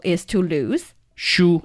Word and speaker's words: 输: 输. Like book. Same pronunciation.